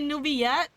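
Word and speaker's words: Neuvillette: honorable chief justice novelette New Villa you pronounce his name as new bilat for Double L it's a y sound isn't it supposed to be newbie yet shaking shaking in my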